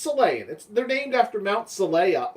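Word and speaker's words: Xelayan: character, the Selayan character, I want to say Zelayan because I see it spelled with an X, but it's Selayan.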